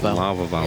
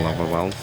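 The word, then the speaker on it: Lavalval: LV Val chain nice how do you say LV LV Lev lav Val lav lava Val lava Val a tongue twister no you added this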